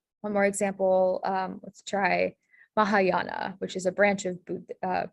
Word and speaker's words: Mahayana: again okay um so the language pattern here is that the ah sound dispelled with an a this is a pretty you can kind of spell it how it sounds so the correct spelling